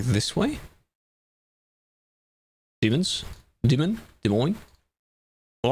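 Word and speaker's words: Des Moines: I looked up someone that was doing like a proper pronunciation video of it. That's what I used as a snippet in my video. And uh De Moine is basically how he said it.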